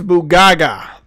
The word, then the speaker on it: Bugaga: Alex Bugaga. His last name is Bugaga. Oh. Alex Bugaga. That's how you say it.